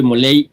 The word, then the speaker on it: Molay: Y pues ya, yo soy Moley más. Se escribe molay, se pronuncia moley.